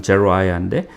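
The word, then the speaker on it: Zeruiah: 이때도 스루야의 아들 제루아야라고 영어 발음은 제루아야인데 제루아야의 아들 아비세, 아비샤이라는 그 아들이 왕께 여짜오되 이 죽은 개 같은 자가 지금 시므이를 얘기하는 거죠.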